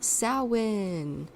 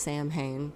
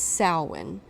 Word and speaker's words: Samhain: going to talk about sowin not Sam pain it's not pronounced Sam Hayne even though it looks like it should be pronounced Samhain but it's pronounced salwin which is essentially Halloween